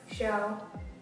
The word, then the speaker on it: Shou: Show. So it's like TV show, but it's spelled S-H-O-U.